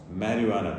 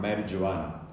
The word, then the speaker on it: marijuana: It may be spelt with J or H, but it's always pronounced marijuana. The J is never pronounced or emphasized, not marijuana.